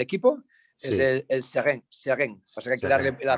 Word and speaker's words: Seraing: Seren.